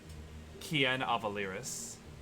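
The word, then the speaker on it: Kienn Avalyriss: you make it up you could pronounce it Kian avaliris Ian Kian avaliris the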